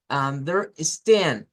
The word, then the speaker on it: understand: Under, mantenemos abajo. Under, dos sílabas. Luego en esta se sube y decimos stand con más fuerza. Understand y luego bajamos de understanding.